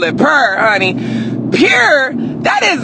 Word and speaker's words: Pur: So, yeah, but it's P-U-R and, it's pronounced pure.